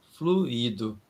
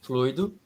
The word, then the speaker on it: fluido: ela de forma errônea costumamos falar fluído o fluido fluído fluído é outra palavra o fluido é o particípio passado do verbo fluir é e fluido e se escreve de forma bem diferente o fluido são duas sílabas flui do e a sílaba forte é flui o fluido são três